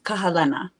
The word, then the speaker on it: Kahelena: your name please describe please pron pronunciate it pronunciate it the way you would it is Kahala is my name Kahala yes yes L versions